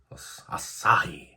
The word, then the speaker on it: Asahi: I've never tried this before, and I think it's pronounced Asahi. Asahi.